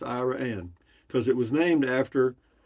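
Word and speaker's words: Iraan: that pronounced IRA and yeah it is it's pronounced Iran because it was named after I want to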